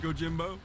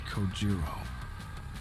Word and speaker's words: Kojiro: The way he deliberately mispronounces my name really bothers me. It bothers me so much that the anger boiling inside me gives me strength to open my mouth once more. It's Kojiro. Sure, bro.